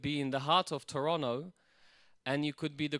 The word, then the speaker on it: Toronto: You could be in the heart of Toronto and you could be the closest of individuals